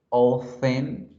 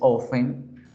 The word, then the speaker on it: often: Always, usually, frequently, often. La T no es tan fuerte en americano, en británico sí. En americano dices often, en británico often, sometimes.